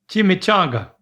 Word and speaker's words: chimichanga: Chimichanga.